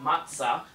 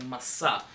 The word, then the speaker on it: matzah: with a matzah and note that I'm not saying matsa I'm saying Masa in the traditional pronunciation of my family of Syrian Jews um so this is